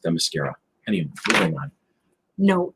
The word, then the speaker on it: Themyscira: Can I just point out that word is actually pronounced Themyscira?